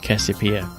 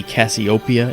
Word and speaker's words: Cassiopeia: They called that lady Cassiopeia instead of Cassiopeia. It's like, that always bothered me. That's stupid. Come on. Name's Cassiopeia, not Cassiopeia. Yeah. It's like put the accent on the right Penelope.